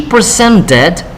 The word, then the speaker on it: presented: Entonces, pues tendríamos ambos verbos, tanto present como add, tiene el sonido especial ed, que se pronuncia id. So we say, before she presented her project, she added more slide to her PowerPoint.